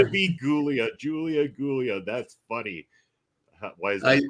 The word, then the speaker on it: Giulia: But it is, it's Giulia. It's spelled that way. That's the way to pronounce that. It's a soft G.